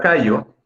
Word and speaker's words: callo: La sílaba tónica en esta palabra es la primera, K, y no lleva acento ortográfico, o sea, no lleva tilde.